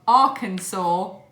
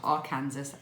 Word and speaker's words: Arkansas: you are watching from Arkansas because that's how you say it not Arkansas as I had been saying it because I'm a stupid